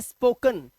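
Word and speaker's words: spoken: तो आपने देखा जो ई का उच्चारण है वो आ का उच्चारण आ रहा है, जो ई का साउंड है वो आ बन गया, कर्नल अल, स्पोकन अन, और इसी तरह से फनल अल।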